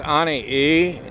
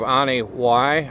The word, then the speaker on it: Anini-y: for Anie e actually that's pronounced Anie e instead of Anie y for some strange reason